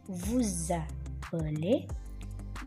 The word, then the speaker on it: vous appelez: Nah, ini vous appelez, bunyi za-nya ini berasal dari S yang ketemu dengan huruf vokal. Jadi bacanya comment vous appelez-vous. Ada bunyi Z di sini, ya.